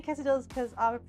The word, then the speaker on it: quesadilla: Quesadilla. When it is just pronounced like a Y.